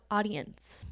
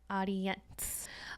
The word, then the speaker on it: Audiense: Next tool is called Audience, but it is spelled differently. So it's spelled AUDIENSE, Audience.